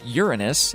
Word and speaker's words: Uranus: of the solar system in 1986 but Uranus pronounced Uranus and polite astronomical circles does not deserve its